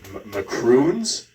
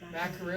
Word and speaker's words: macaroons: McCrun mccrron. Gaston, how do you say it? Macaroons.